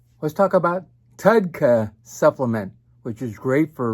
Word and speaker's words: TUDCA: want to talk about a wonderful supplement called tudka t-u-d-c-a it's a long uh supplement name about